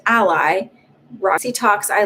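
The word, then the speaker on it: Alai: said jake ducey joseph a l a i pronounced ally roxy talks i like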